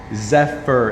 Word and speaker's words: Zephyr: Zephyr is how you say it.